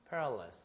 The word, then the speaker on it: perilous: Perilous, 뭐? Perilous, 아? 위험한.